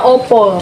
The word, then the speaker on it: apa: Bacanya opo.